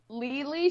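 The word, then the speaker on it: Leelee: Spell it out one more time. You said Lou, what is it? Lily, so it's L-E-E-L-E-E, and Lily.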